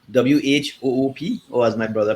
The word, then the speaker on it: Whoop: um so the device is called um a whoop wh o o p or as my brother pronounced it whoop um and um so it's